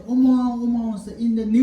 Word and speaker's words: Om: So first say Om. Om. Om. Om. So Om should be always sound protrudes from the heart chakra, and you blow from there, and you say Om.